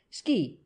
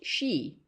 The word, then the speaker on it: Ski: "Yes'm, Ski, Elmer Ski. No'm, not pronounced she.